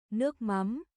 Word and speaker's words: Nước mắm: ano na lang sa Google Translate yung pronunciation. Nước mắm.